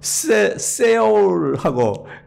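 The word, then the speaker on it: Seoul: IOC 위원장이 여러분 세울하고 이제 유치 도시를 발표할 때 아마 뉴스에 여러분 혹시 기억하는 분이 있을지도 모르겠어요. 그러니까 세울 하는 게 이제 그게 독일식 서울을 독일식으로 발음한 거예요, 이제.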